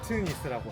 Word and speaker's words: 더트니스: 팔로 이건 제가 죄송한데 뭐라고 읽어야 하지 맞는 건가요? 더트니스라고 한글러는 더트니스 더트니스요?